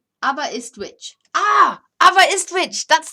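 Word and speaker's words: Aberystwyth: lee says hi all the welsh town is pronounced abba abba it's abba is twitch ah ava is twitch that's the pronunciation what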